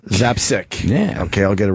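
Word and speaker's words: Zapcic: Zapsick. Zapsick.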